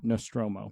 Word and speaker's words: Nostromo: Nostromo.